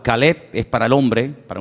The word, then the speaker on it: Caleb: Para diferenciar el nombre del perro se pronuncia diferente, pero se escribe igual. Caleb es para el hombre, para un nombre propio.